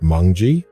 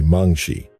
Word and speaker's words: Mangshi: Is it pronounced mongji? No, it's actually mangshi.